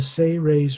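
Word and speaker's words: Seres: turalyon is of the say ray's race it's spelled s-e-r-e-s but is pronounced phonetically as if it was spelled s-a-y hyphen r-a-y-s say rays they are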